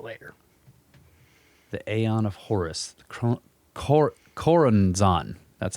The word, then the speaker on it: Choronzon: The Aeon of Horus, Choronzon, that's how it's said, the demon dweller of the Abzu, the waters of the deep.